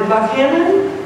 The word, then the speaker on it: Buckhannon: Jane Ann Phillips was born in Buckhannon, is that how you say it?